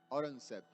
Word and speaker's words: Aurangzeb: How do you pronounce? Aurangzeb.